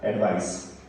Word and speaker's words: advice: तो यहाँ पे ADVICE मतलब एडवाइस, सर का साउंड आता है इसमें।